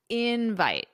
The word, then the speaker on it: invite: So I could ask you, did you get my invite? Did you get my invite? Okay. And it's the same as invitation. Just remember the pronunciation invite, the syllable stress on the first syllable.